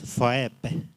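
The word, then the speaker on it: Phoebe: That name I pronounce it as Foepe.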